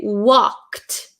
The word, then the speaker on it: walked: usually after a ck sound after a k sound the e d it sounds like a t t so we don't say walk walked right we say walked walked Walked okay I hope that